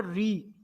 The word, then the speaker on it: ऋ: हैं एकस्वर होता है जिसको कहते हैं री अब यह तो बड़ा अजीब स्वर है इसके उच्चारण में तो हवा जीप से टकरा ही रही है ऋ षि या कुछ लोग गुजराती और मराठी में इसको रूप भी बोलते हैं ठीक है ना और